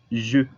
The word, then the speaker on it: je: La primera persona en singular es je. Je significa yo. La pronunciación del je es La J se pronuncia como SH, pero un poquito más sonoro.